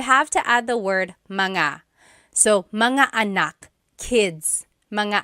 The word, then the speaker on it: mga: And then technically when you when you want to make something plural, you have to add the word manga.